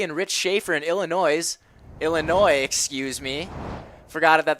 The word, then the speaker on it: Illinois: rich schaefer in illinois illinois excuse me forgot it that there's a silent s on illinois and joanne and jim